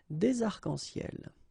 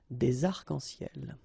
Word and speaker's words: des arcs-en-ciel: Okay, you can see that as usual we don't really pronounce this final S, so phonetically it's almost the same, but then we've got this liaison between the two, des arcs-en-ciel.